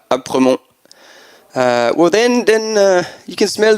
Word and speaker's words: Aspremont: And then once you're at Aspremont, I don't think you pronounce the S, Apremont.